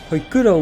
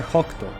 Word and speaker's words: Hokuto: Hoykuto(?), which I'm honestly not sure how it's officially spelled in English, is rather Hokuto (北斗), which in Japanese